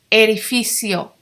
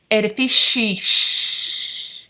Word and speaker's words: edificio: see what it says Eddie physiol not Eddie fish a la fille seal say that with